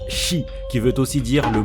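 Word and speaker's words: 四: Par contre, au Japon, le chiffre 4 se prononce Shi, qui veut aussi dire le mot mort dans le pays du soleil levant.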